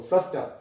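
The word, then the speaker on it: fluster: यहां पे भी देखो आर वाला साउंड प्रोनाउंस नहीं करोगे, फ्लस्टर।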